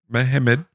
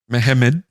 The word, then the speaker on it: Mehmed: He was first stationed in Constantinople and helped the last Sultan Mehmed VI. Not with an A, it's an Mehmed. Mehmed.